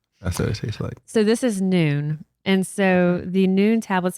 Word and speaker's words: Nuun: So the Noon, it's spelled Nuun, and the Noon Sport Hydration, they have 300 milligrams of sodium in the tablet, 150 potassium.